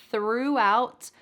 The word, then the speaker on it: throughout: First, I want you to put your tongue between your teeth for that th. And then we're going to add an r. I want you to think of an angry dog. Rrr. Rrr. This is the American English r sound, and we're going to add it with the th. Thr. Thr. Can you say that with me? Thr.